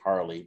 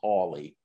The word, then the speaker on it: Hawley: representative josh hawley uh i wanted to say harley but it's hawley such a weird way